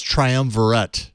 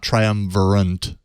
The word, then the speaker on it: triumvirate: I'm going to correct myself because I mispronounced it. It's triumvirate, not triumvirate, which is what I said.